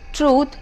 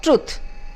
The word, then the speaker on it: truth: The next word is truth, where the word correct pronunciation would be truth and not truth, where the TRU is shortened.